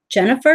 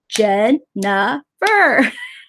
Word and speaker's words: Jennifer: do it wrong Jen Jennifer is three syllables one hand goes with the first syllable the second and goes with the second syllable I get a little upset puppet Jen nah fur wine and man Kelly